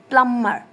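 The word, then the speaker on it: plumber: there are some exception look at this word प्लमर यहां पे बी है और बी से पहले एम है मगर बी के बाद भी कोई लेटर्स है मौजूद हैं अकॉर्डिंग टू दिस रूल कि अगर बी के बाद भी कोई लेटर्स हैं तो बी साइलेंट नहीं होगा साइलेंट नहीं होगा बट हेयर इट इज यहां पे भी साइलेंट है बिकॉज दिस वर्ड इज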